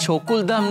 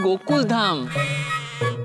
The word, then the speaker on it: Gokuldham: Bawri, it's not Chokuldham, it's Gokuldham.